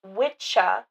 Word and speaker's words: Wicca: It's Old English, pronounced witcha, and it referred to a male practitioner of witchcraft or magic, but was later popularized by Gardner.